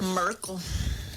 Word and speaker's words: Merkel: because her name rhymes with Urkel. The fuck. Merkel.